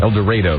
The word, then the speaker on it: El Dorado: El Dorado, they pronounce it in Kansas.